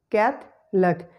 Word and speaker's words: Catholic: Catholic. The schwa sound is eliminated and it is no more pronounced.